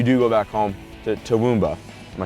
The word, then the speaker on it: Toowoomba: When you do go back home to Toowoomba, am I saying that right? Not really, no. But okay, well say it right. Toowoomba.